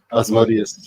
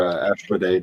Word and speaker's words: Asmodeus: If he is any of the demonic hosts, he's definitely Asmodeus or Ashmodee, depending on how you want to pronounce it.